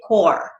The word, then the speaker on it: corps: the p and then if you're thinking about the marine you would say core so you wouldn't pronounce that p marine core okay and also